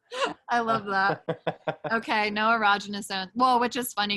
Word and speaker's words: erogenous: Yeah, I think anything that got to like, I can never pronounce this word, ergonomic, not ergonomics. I was like, I don't think. Erogenous zones. Any erogenous zone.